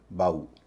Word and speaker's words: BOUGH: और यही नहीं, BOUGH, यह भी टफ रफ की तरह ही एक शब्द है, इसका उच्चारण होता है बाऊ।